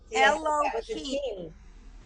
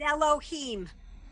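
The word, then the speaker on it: אלהים: he he he yeah eloh nope it's Elohim because it has a DOT under it I T yeah nope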